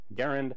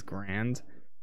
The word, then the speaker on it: Garand: obscure, as in errand, accent on the first syllable, or according to the Merriam-Webster system of marketing, Garand.